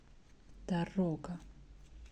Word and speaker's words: дорога: Second O is stressed. Дорога. And first one is not stressed.